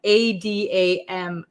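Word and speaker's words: at 'em: We say Adam, Adam. It becomes a flap T, so it sounds like a D sound. Up and Adam, up and Adam, up and Adam. Okay, so up and Adam means that you are ready for the day.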